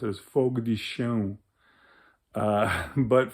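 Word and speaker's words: Fogo de Chão: and they all had a nice dinner at Fogo de Chao, as people like to say it. The way you're really supposed to pronounce it is Fogo de Chao. But Fogo de Chao, as the Americans call it, is an amazing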